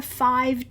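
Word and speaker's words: phiv: And I'm going to work on a five tile. That's a Zenangle tile that is 5 in square. Um and it's spelled P H I V.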